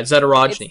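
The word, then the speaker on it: Zadorojny: how do you pronounce his name? Mike. Yeah, Zadorogny.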